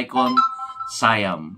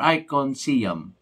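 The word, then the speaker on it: ICONSIAM: station na doon sa icon sayam or icon siam kasi icon eh IC o n tapos sayam is s i a it's it It will be pronounce icon sayam or icon siam nas sa inyo na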